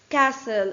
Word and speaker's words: castle: Castle. In the word castle, which letter is silent? T.